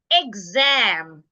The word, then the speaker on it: exam: I'm stressing X am I am not stressing the E so because I should not stress the E the E should sound a now because I have a voice sound after the X the X should sound G exam same with this I